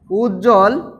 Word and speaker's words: উজ্জ্বল: তিন নাম্বার পয়েন্টটা দেখি যুক্ত ব্যঞ্জনে যুক্ত ব্যঞ্জনে ব ফলা অনুচ্চারিত থাকে যুক্ত ব্যঞ্জনে ব ফলা অনুচ্চারিত থাকে অর্থাৎ কোথাও যদি যুক্ত বুক্ত ব্যঞ্জনের সাথে যুক্ত হয় তাহলে সেখানে বটা কি থাকবে অনুচ্চারিত থাকবে অর্থাৎ উচ্চারিত হবে না যেমন আমরা এখানে লিখতে